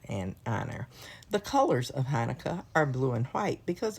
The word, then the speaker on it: Hanukkah: It can be spelled different ways, but it's always pronounced Hanukkah.